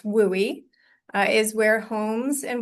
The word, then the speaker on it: WUI: The WUI, which we pronounce WOOI, uh is where homes and wildland areas meet.